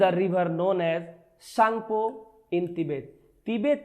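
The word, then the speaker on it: Tsangpo: तिब्बत में आखिर किस नदी को सांगपो के नाम से जाना जाता है? टी यहाँ पे साइलेंट है। सांगपो।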